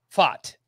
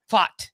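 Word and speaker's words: Pfaadt: Brandon fought of the Arizona Diamondbacks he's a pitching Prospect and that's spelled b-f-a-a-d-t it's a very he said B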